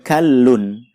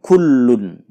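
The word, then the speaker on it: كَلٌّ: bergaris bawah adalah wahuwa kholun ini termasuk bacaan hati-hati karena khasnya berharokat fathah bukan Dumai Jadi dibacanya uwak-uwak alun bukan wahuwa kullun Audzubillahiminasyaitonirrojim Bismillah Noah many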